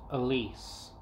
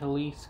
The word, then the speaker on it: Elise: christmas eve of aunt elise a tale of possession in old gross point we pronounced her name with the distinct z sound remember jack remember the